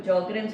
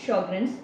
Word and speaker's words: Sjögren: कुछ लोग इसे "जॉर्गेन्स" कहते हैं, कुछ " शोगुन" और कुछ "सोग्रेन"। लेकिन इसका सही उच्चारण Sjögren's syndrome है।